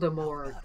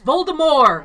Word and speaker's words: Voldemort: It's Voldemort. It's Voldemort. I just don't understand why they're allowed to say Well, try Voldemort. one for dinner and you can have Clearly the T is silent.